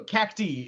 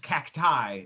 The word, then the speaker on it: Cacti: so cacti, it would be Star Warsifying because cacti is how you say it. Cacti. Okay. Cacti, like Shakti.